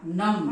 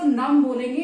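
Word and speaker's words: numb: My hands are नम, इसको नम बोलेंगे guys. B का यहां पर आप प्रोनाउंस नहीं करेंगे, बी को आप नहीं बोलेंगे, नम्ब नहीं बोलेंगे, नम बोलेंगे, नम।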